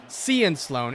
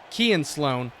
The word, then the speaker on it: Kean Sloan: It's not Cian Sloan. It's Kean Sloan with the sack.